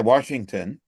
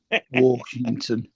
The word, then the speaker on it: Washington: And we we generally say it without the R in it. Yeah, that's Lloyd, is it? Washington.